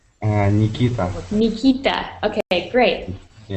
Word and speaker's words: Nikita: And could you please help me out with the pronunciation of your name? Yeah, can you hear me? Nikita. What is it? Hunkita? Oh, Nikita.